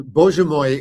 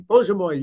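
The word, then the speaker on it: Боже мой: And Bože moj is my God, basically. Bože moj, yeah, my God, yes.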